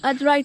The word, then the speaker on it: Aadrai: It's a fine, lovely Sunday morning, and we are at Malshed Ghat with treks and trails, and we're going to do the Adrai Trek today.